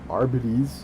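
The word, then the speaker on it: Arbites: I am the law, a Warhammer 40k adeptus arbit because apparently that's how you say it.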